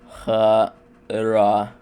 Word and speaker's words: Хорошо: This is shown in the word Хорошо. The first О is pronounced as a ə, the second ɐ, and the third oh. Хə-рɐ-шо.